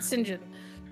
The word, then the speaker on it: St. John: Oh, the English the English pronounce it singin.